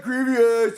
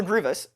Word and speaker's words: Grievous: Grievous on it and you said Grievous Grievous I had an ey or the amount of comments I just were just like he said Grievious you doesn't know how to pronounce things which is fair it was wrong and now I know uh yeah so my